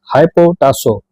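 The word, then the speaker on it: ὑποτάσσω: और यहाँ पर जो अधीन शब्द आया है, इसका मूल यूनानी शब्द है हाइपोटासो, जिसकी स्पेलिंग है HYPOTASSO, जिसका अर्थ है परमेश्वर द्वारा स्थापित क्रम का सम्मान करना या स्वेच्छा से समर्पित होना।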